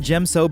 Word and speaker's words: Djem So: else into the classic discipline not only did Jim so bring a new way to implement the fifth